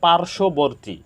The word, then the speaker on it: পার্শ্ববর্তী: পার্শ্ববর্তী না এটা হবে পার্শ্ববর্তী পার্শ্ববর্তী এখানে যুক্ত ব্যঞ্জন বর্ণের সাথে বফলা আসার কারণে ব ফলার কোন উচ্চারণ হয়নি তত্ত্ব আমরা তথ্য বলি